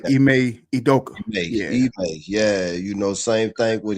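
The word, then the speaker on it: Ime Udoka: I'd always say his name wrong. Dude that was at Boston, the coach at Boston, Aduka. He coached in Houston right now. Ime Idoka.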